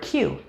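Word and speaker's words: queue: letters is the word q it is spelt q-u-e-u-e but pronounced the same as the letter q are you familiar with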